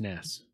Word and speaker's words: NES: yeah what the hell Nintendo says that the NES is pronounced ness did you see this